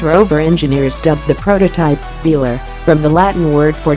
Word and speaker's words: Velar: a secret prototype and it does roll off the tongue quite luxuriously with emphasis on the first syllable but is Range Rover